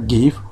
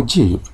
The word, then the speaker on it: GIF: gif gravis interchange format pronounced each give or Jeep to JPEG Jen photographic